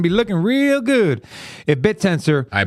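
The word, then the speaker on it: Bittensor: By the way, you know how long it took Rob to finally pronounce bit tensor correctly? About seven months. Seven month. What was he calling it? He kept calling it bitten, sir.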